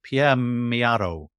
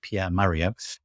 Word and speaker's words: Pierre Mio: a lovely lovely person Pierre Mio is how you pronounce that although it looks like Pierre Mario um oroni um and